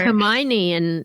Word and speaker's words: Hermione: It's like Hermione in Harry Potter. A lot of people thought it was could Hermione. not pronounce that until the movies came out.